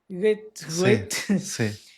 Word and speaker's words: Goethe: Algo así, no sé cómo se pronuncia, así como la cuisine que te decía yo la otra vez. Goethe, Goethe, sí, Goethe.